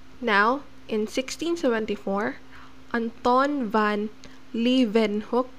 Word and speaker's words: Leeuwenhoek: in 1674 anton van leeuwenhoek so we pronounced w as v so anton van leeuwenhoek so leaving hook he made his own